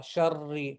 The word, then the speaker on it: شر: The ra with the kasra is going to be the soft ra. Sharri, sharri, not the heavy sharri. No, that's for Rabbi. Ra, ra with the fatha is heavy. Rabbi, Rabbi. Okay, Rabbi, Rahman, Rahim, heavy. Okay, this is soft.